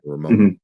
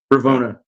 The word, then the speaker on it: Ravonna: Ramona. Ramona. Yeah. Or Ramona. I don't know. Ravonna.